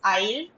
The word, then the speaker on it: aisle: Now, coming to the last set of words, ISLE is isle, AISLE is also isle.